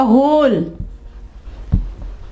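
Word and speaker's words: whole: ठीक है, इसके अलावा होल, होल, ये देखें W साइलेंट हो जाएगा।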